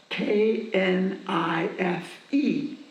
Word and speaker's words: knife: He says, "How do you pronounce the word that is spelled K N I F E?" I say knife, Baba. Very good. Why is the K mute, silent?